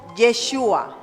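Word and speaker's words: ישוע: las cuatro letras hebreas la primera letra es la yot después viene la chin después viene la baf y la última letra es la letra aji esto se pronuncia como yeshua Eso significa Dios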